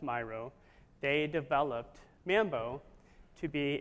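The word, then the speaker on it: Miro: a company called Myro I used to call it Meo but it's pronounced Myro they developed Mambo to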